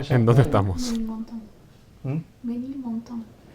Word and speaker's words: Ménilmontant: Menilmontant. ¿Mm? Menilmontant. Ménilmontant. Bueno, ¿Cómo es? Menilmontant. Ménilmontant. Tu pronunciación es una ofensa al idioma francés.